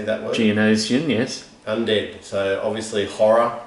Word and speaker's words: Geonosian: Geonosian, yes.